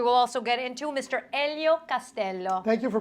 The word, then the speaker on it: Elio Castello: Elio Castello. Thank you for pronouncing my name properly.